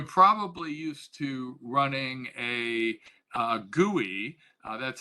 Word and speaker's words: GUI: running a you're probably used to running a gui that's how you pronounce gui graphical user interface that's the gui